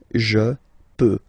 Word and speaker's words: peux: Final X not pronounced here, okay? So you get X, but you don't pronounce it, so basically you get the sound peut, je peux, okay, so I can, je peux, okay.